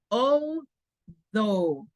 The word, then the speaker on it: although: Sin embargo, a pesar, although tiene la TH, although.